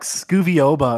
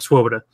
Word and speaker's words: Swoboda: Oba or like Scooby I feel like everybody gets wrong I've never heard one person pronounce it right on their first try except sadly though shouts out - sadly - a falafel shout he came up I was like can anybody pronounce my name on the first try he came up he's like Swoboda as he I was